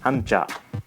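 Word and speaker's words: 한자: : « kanji » Vous pouvez voir que la prononciation était à la base « hànzì », mais a divergé et est devenue différente en coréen et en japonais, même s'il s'agit de ces mêmes deux caractères.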